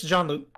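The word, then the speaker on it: Jean-Luc: No, it's John Luke.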